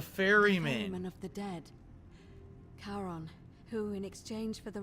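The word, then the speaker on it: Charon: it's just as you described it only your pronunciation is a little off the name you heard wasn't Karen it was C h Caron o-n as in the fairy man of the Dead karon who in exchange for the right coin helps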